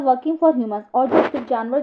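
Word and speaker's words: djinn: तो even the क्लेव जिन वास eight हि विट्स एंड ओके तो ये जो डी लिखा हुआ है इसमें डी साइलेंट है तो जिन है ये तो इवन द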